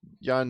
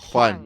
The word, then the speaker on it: Juan: Again, I'm not Jan. Get damn. Pronounce my name correctly. Well, right, Juan. Juan. There you go. Sorry, Juan sorry. I just Just say have to. one. Just say one, but skip the Juan.